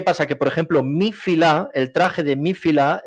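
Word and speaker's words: filà: Aquí le llamamos filá, con acento en la A, filá.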